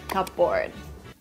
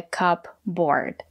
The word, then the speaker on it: cupboard: get started a cupboard the letter P silent we don't pronounce the letter P a cupboard it's a